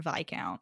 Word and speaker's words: viscount: thank this book for teaching me how to pronounce the word vi count because did not know that before yeah so